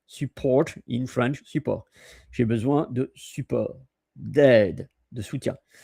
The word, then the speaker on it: support: p o r t the t is silent.